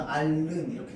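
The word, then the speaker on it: 앓는: 그래서 최종 발음은 자, 알른에서 히읗 탈락하겠죠. 그리고 리을만 남는데 이 리을이 니은에게 영향 줘서 어떻게 해? 최종 발음은 알른 이렇게 됩니다.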